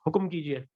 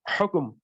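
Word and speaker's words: حكم: And then we say Hukum kijiye, Hukum kijiye. No, that's Urdu. If we need to say Arabic, it's Hukum.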